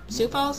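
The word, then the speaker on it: Sioux Falls: sou Fall South Dakota that's spelled s i o u x Falls sou Falls I don't know so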